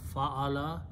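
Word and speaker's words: فَعَلَ: So the simplest thing is that if you have three fa, an, and lam, so as soon as you put three zabar, three fatahs, and pronounce fa'ala, this becomes the grammar of third person past tense.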